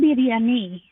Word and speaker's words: biryani: am I pronouncing the chicken dish is it Biryani how do you pronounce it so it's actually chicken biryani all right oh say it slowly say it